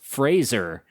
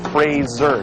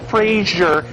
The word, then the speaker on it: Fraser: That's Fraser not Frasier.